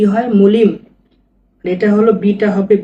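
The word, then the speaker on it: молим: এটা এম এমও এল আই এম কি হয় মলিম এটা হল বিটা হবে ভি এটা এ সিটা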